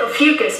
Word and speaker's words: Ophiuchus: And they took into account Ophiuchus, by the way, that's how you pronounce the name of that 13th sign.